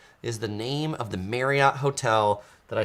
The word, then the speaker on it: Marriott: Okay, so first of all, Travel Check says, I did not say Marriott correctly. And you're right. It's not Marriott. It's Marriott.